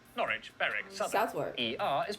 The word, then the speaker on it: Norwich: pronounced leicester worcester gloucester w at the start of the final syllable is silent norwich beric southward er is